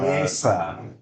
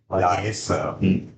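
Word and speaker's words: Yesca: Yesa. Y-E-S-C-A. Yesa. No, they're saying it wrong on there. Oh, okay. But you gotta remember, Y is not Yeah, it's like J.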